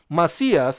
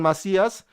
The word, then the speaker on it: Macias: marcia uh thank you marcias i'm sorry i mispronounced your name macias and banana ant for